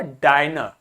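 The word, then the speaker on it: diner: एज a short वल लेकिन देखो यहां पर अब सिंगल एन है और वाउल है तो अब शॉर्ट नहीं आया अब क्या हुआ डाइनर अब क्या हो गया डाइनर ठीक है तो इट्स नाउ one only one एंड आई is pronounced as a long वल तो देखो डाइनर हो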